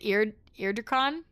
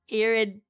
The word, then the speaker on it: Iridikron: Is it Iridikron? Iridikron.